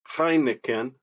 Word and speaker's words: Heineken: The EI in Heineken is I.